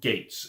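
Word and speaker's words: Geiz: his assists of alien from gates is the accepted pronunciation for his writer for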